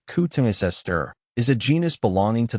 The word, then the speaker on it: Cotoneaster: Katoni aster pronounced coutungisester is a genus belonging to the rosacei family which also includes roses, apples and pears.